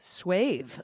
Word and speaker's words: swathe: Over here we pronounce it as in bathe. Swathe.